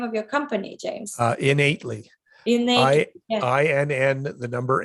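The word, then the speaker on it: Inn8ly: How do you pronounce the name of your company, James? Innately.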